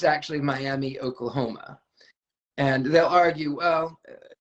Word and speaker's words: Miami: They pronounce it, how I sigh at that, but they pronounce it Miami, but it's actually Miami, Oklahoma.